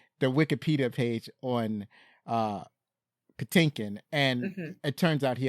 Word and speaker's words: Patinkin: their plan to cast pintin oh shoot I messed that name up Patinkin that's how you say it Patinkin because he felt the